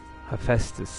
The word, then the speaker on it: Hephaestus: Hephaestus, that's how you say it.